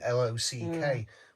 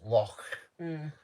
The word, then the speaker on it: Loch: A bit like saying, a lot of people say, oh, Loch Lomond, as in Lock, when it's spelled Loch. So obviously Loch over here is Loch.